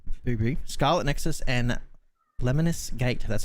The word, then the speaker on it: Lemnis Gate: but mighty goose right booby scarlet nexus and lemonis gate that's how you pronounce that one that's covered by me um